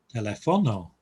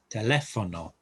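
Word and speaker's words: teléfono: the e niece likewise it would be telefono if there was no accent on the e but it's telephone um quite an important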